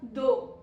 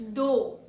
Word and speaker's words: though: पहला वर्ड है हमारा दो. THOUGH. सॉरी, स्पेलिंग है THOUGH. दो. THOUGH. दो. Say it like दो.